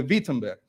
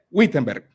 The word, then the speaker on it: Wittenberg: puerta del castillo de Wittenberg. Bueno, creo que así se pronuncia, pero se lee Wittenberg.